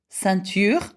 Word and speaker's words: ceinture: Now, the sound E-I-N, again, it says is pronounced A. So, ceinture, belt. Plein, that means full, plentiful. Peinture, that means painting. Éteindre, that means to switch off. Again, it's a sound, okay? E-I-N is A.